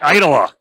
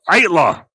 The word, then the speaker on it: Aittala: That's right, Aittala. Aittala. Either pronunciation is acceptable.